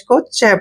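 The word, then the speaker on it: catch: सी eighty C एच जब भी सी से पहले टी आता है तो टी को हम साइलेंट रखते हैं या टी का उच्चारण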